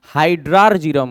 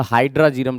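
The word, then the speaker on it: hydrargyrum: हाइड्रार्जीरम होता है, आर जो होता है ना साइलेंट कर दिया था तो हाइड्राजीरम लोग बोलते हैं, तो हाइड्रार्जीरम हो गया।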